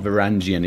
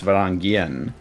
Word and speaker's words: Varangian: Because they said that you need to pronounce the G, right? It's not Varangian, it's Varangian, right?